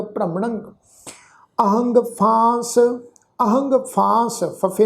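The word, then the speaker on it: ਭ੍ਰਮਣੰ: भ्रमणंग पब्बे पैर अद्धा रारा, मम्मा नाने उत्ते टिप्पी की मात्रा का नासक उच्चारण होएगा भ्रमणंग।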